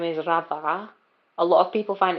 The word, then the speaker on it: Radha: My actual name, my first name is Radha. A lot of people find it very hard to say. It's spelled Romeo Alpha Delta Hotel Alpha.